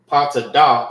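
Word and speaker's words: פטדה: Patadah is how you say topaz in Hebrew.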